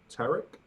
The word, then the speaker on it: Tariq: Mine's Tariq, but pronounced like Derek with a T. So Tarek.